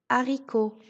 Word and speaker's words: haricot: Le H ne se prononce pas quand il est en début de mot. Exemple, un hérisson, le haricot.